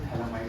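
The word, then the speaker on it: phthalimide: Gabriel थैलामाइड reaction. Gabriel थैलामाइड है कि थैलीमाइड? थैलीमाइड reaction, Gabriel थैलीमाइड reaction. अब Gabriel थैलामाइड reaction की क्या है सर? ये तो पीएच लिखा है सर, पीएच साइलेंट है।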